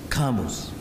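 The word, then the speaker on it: Camus: Now from Jean Paul Sart and Simone Ba to Albert Kamos I pronounced like the English man not like the French who forgive me son's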